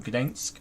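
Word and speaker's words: Gdańsk: So today's flight, Ascot 4457 over to Gdensk in Poland. That's how you pronounce it apparently.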